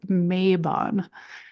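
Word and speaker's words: Mabon: And I have heard this name pronounced a couple different ways before, but uh it looks like for the most part a lot of the books and a lot of the information out there does pronounce it as Mayabon.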